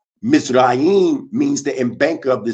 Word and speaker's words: Mizraim: Mizraim is, or pronounced Mizraim, means the embanker of the sea, talking about Menes the first.